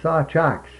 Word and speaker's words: Sawczuk: Well, we were all Sawchuks. Sawchuk. That's the proper way to say it.